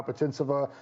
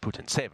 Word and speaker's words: Putintseva: Putintseva is just kind of a backboard along the baseline.